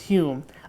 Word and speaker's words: Home: It's spelled home, pronounced Hume in the parenthesis. We we talk about Daniel Dunglas home pronounced Hume a Scottish medium from the 1800s.